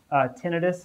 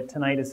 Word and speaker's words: tinnitus: ringing in the ears tinnitus is how I say a tinnitus is fine too I don't I don't